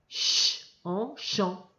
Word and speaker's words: champs: l'abba de en dans les champs le pes ne se prononcent pas on reprend cette phrase